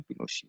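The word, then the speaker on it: Pinochet: ये पिनोशी, इसका प्रोनाउंसिएशन पिनोशी, ठीक है, जनरल ऑगुस्टो पिनोशी।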